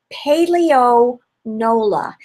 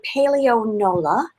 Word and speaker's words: Paleo Nola: So one of the granolas that my husband, Stephen Roplat, actually found is a company called Paleo Nola. So it's spelled, I'm going to put my glasses on, P as in Paul, A-L-E-O, N as in Nancy, O-L-A.